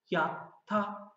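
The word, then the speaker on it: やった: Örneğin ya sesinin yanına ta koyduğumda yata, yata diye telaffuz edeceğim. Ama ortalarına eğer küçük bir tığ geliyorsa yatta, yatta olacak.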